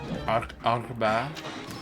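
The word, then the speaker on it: أربعة: Ar you have like you have to say it from your throat basically. Arba.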